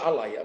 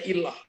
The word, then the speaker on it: ilah: kata awal dalam Alkitab jangan baca Alaya bacanya ilah atau Dewa lain dengan